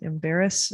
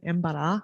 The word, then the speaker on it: Embarrass: so this nice river i think you pronounce it embarrass i i think it's a french word embara which means an obstruction so either beaver dams